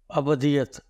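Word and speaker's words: ابدیّت: کا باپ ہے۔ جی، اس کو لوگ اکثر غلط تلفظ کے ساتھ بولتے ہیں، یہ ابدیت نہیں ہے، جی، کیونکہ دال کے اوپر تشدید ہے، جی، تو اس لیے یہ ابدیت ہے، ابدیت، کیونکہ یہ اردو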